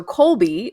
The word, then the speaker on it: Kolbe: the marketplace sure okay so Colby is spelled k-o-l-b-e and the primary index